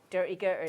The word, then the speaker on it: Durty Gurty: dirty is that how you say it yeah dirty girl dirty dirty there's loads of way you can